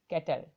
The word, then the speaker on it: castle: कैटल, देखिए इसमें S silent है, तो CASTLE का मतलब होता है कैटल।